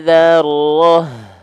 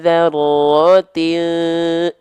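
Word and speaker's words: ذرة: Mithqala dzarrah. Jadi H besar sukun ya, kalau berhenti. Tapi kalau kita lanjutkan, mithqala dzarratin tisya, ya, dzarratin. Ya, kalau lanjut kita bacanya jadi ta. Kalau lanjut jadi huruf ta, kalau berhenti jadi huruf H besar sukun.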